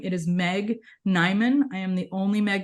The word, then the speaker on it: Niman: ton under my own name it is Meg nyman I am the only Meg nyman in the